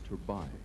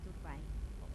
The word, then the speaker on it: Turbay: ต่อไปเราจะมาดู, เทโอลา promise เท you เบ I'll นะครับ pronounce จากโคลัมเบีย your name correctly. It's Turbay. Turbay. Turbay. Oh, I had it right the first time. Shouldn't have tried. In English, in Spanish, it's Turbay.